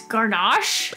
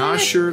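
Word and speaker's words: Gnawsher: it's Garnosh? Is that what you said? Nosher Layer. Nosher? The G is silent. Oh, is it? Because it's like the word gnaw.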